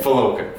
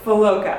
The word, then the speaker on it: Fulawka: Today I have Keith Fulawka. Did I say it right? Yeah, close enough. Okay. Almost. How do you say it? Fulawka. Fulawka.